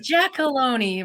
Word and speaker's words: Giacolone: it jackalone okay good jackalone rhymes with baloney in case you ever